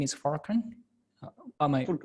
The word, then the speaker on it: Furkan: So you're sorry, your name is Furkan. Am I Furkan, pronouncing yes.